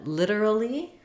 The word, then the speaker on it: literally: And then literally, same thing. British, literally. American English, literally. So literally, that's for literally. Literally. So literally, you're going to just sound more British.